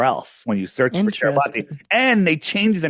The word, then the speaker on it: Kiribati: And all it says is it was registered to the nation of Kiribati, or it's Kiribati, but it's pronounced Kiribati, right?